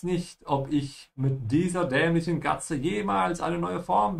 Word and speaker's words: dämlich: Make sure you pronounce the umlaut auf ä and keep your mouth open on the ich. Dämlich.